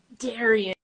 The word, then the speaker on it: Dariann: Yes, my first name is pronounced Dariann. Dariann.